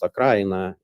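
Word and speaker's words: Украина: So I would say that also when we say Ukraine, the word Ukraine in Russia means it is pronounced Akraina, derives from this word.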